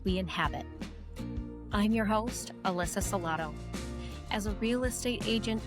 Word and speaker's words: Salotto: I'm your host, Alyssa Salotto, or if you prefer more Italian pronunciation, go ahead and say Cialotto.